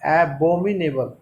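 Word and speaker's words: abominable: साथ ही मैंने मेंशन किया है इसका एक्सेंट कैसे होगा, तो एबोमी नहीं होगा, ए अलग है, बोमी अलग है, एबोमिनेबल।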